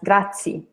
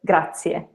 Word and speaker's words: grazie: every sound so here if you see two vowels and that means that you have to pronounce two vowel sounds so how would you